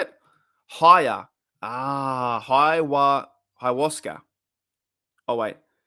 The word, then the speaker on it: Ayahuasca: Ayahuasca?